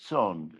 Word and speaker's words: Ton: An old friend by the name of Joseph Son, spelled T O N, pronounced T S O N, who by the way died last week.